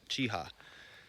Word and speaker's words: Cheaha: I said, "How do you say that?" Chiha. Chiha, just like yehaw is what they said.